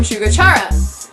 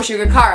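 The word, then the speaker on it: Shugo Chara: Next, another character that I'm kind of similar to is Amu from Shugochara. Or Shugakara, however you want to pronounce it.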